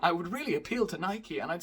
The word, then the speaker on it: Nike: Nike is a Greek goddess, which is pronounced Nike, so why are we letting Greek people decide what the English flag is?